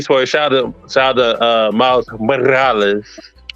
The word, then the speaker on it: Morales: Like, And also, if it's a tiny spoiler, shout out to Miles Morales. Don't forget, you got to roll your R's on the end part.